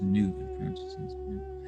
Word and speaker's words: nous: The final topmost division of the intelligible is nous, pronounced new, or pure knowledge.